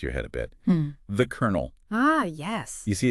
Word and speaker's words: colonel: The Colonel. Ah, yes. You see, it's spelled C O L O N E L, but then you say colonel.